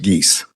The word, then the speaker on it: Geis: And if I may correct the court, the last name is pronounced Geese. Geese, sorry about that. As in Canada geese.